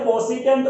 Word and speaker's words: कोसेक: इसे कोसिकेंट बोल दो या कोसेक बोल दो, ठीक है।